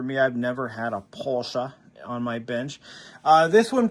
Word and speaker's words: Porsche: It is pronounced Porsche.